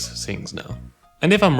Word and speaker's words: Singh: anything and also i'll use the word sing a lot s-i-n-g-h just like you know has written in my youtube name right um zing is